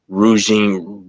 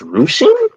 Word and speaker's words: ruching: rouging, which I've learned is pronounced ruching.